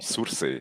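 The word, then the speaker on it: Sursee: Okay, so I'm from Surse.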